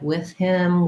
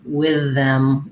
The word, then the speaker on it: with: you noted that with can be pronounced with the voiceless th like with him with me that's how i typically